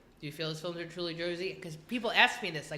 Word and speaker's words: Jersey: to be pronounced, but I said it's Jersey with a Z. Jersey. Yeah, I'd agree with that. Wait, what do people say that's not Jersey? They say Joyzy. Joyzy.